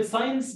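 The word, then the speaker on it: science: وكلمة ساينس مهمة جدا، أي سي وراها سي، اس وراها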